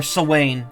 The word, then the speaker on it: Samhain: event for Halloween or Samhain, technically, as it's called. I think that's pronounced right. The H is pronounced like a W.